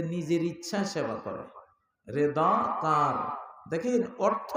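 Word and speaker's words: رضا: রেদা কার, দেখেন অর্থ না বুঝলে গালি হয়ে যায়। রেদা বা রেজা মানে হলো, রেদা মানে সন্তুষ্টি।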